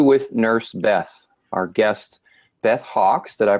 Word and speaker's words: Beth Hawks: episode three interview with nurse Beth Our Guest Beth Hawks did I pronounce that right Beth you did okay Beth Hawks I'm gonna read a little bit about her